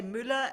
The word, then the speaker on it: Mueller: maybe you should say Müller as in Müller Milch, because every Aha, German knows that.